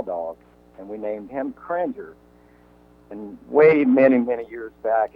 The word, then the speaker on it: Kringer: Was I mispronouncing that? That's Kringer.